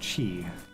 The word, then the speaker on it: Qi: Also, it's probably pronounced chi.